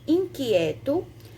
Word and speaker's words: inquieto: Inquieto ia circular, porque é o QU, né? E quando a gente diz que, a gente só pronuncia um fonema, a gente não escuta o som do Q, o som do U. Alguém é a mesma coisa,